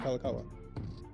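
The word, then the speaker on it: Kalākaua: signed by David Cujo or kalakaua sorry David kalakawa that's right because I got his name wrong first at first yeah I was about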